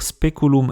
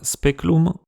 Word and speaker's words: speculum: S'il prend la peine de préciser qu'il faut écrire speculum et pas speculum, c'est sûrement parce que c'était une faute courante, signe que beaucoup de gens devaient prononcer speculum.